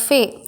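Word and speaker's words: فاء: இதை உச்சரிப்பு எப்படி அப்படின்னா ஃபே, ஃபா, ஓகேவா? ஃபா.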